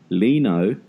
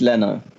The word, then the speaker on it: Leno: was signing Leno but I've heard five different pronunciations this week I've heard Alou no lino Leano la know so I think what it is and this is all coming from top sport Tony so it's in your country it's learner I mean that's all